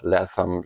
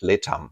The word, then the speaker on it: Letham: In the first movement, we learn all about Letham Leam's um in German, we pronounce it Leam, not Letham. The th is not a th sound in German.